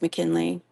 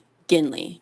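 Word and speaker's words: McGinley: Oh, I'm so sorry, Miss McKinley. I think I'm saying your name wrong. M Mc Mckinley. Mc Ginley with a G.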